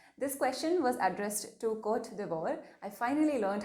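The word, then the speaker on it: Côte d'Ivoire: the covet pandemic this question was addressed to court devore i finally learned how to pronounce the name of this country and in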